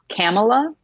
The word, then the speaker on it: Kamala: to pronounce her name Kamla Harris that's the proper pronunciation canola camel oh so she's Pamela except with the K yes okay camel so